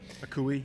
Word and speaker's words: Akoué: Akoué, yeah.